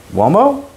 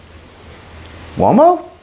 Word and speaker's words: Uomo?: From Moschino, Uomo? And I say it like that because there's a question mark in it. Uomo?